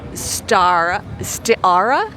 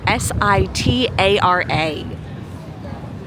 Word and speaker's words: Sitara: And this is Stiara. Yeah, I think that's how you pronounce it. It's Sitara.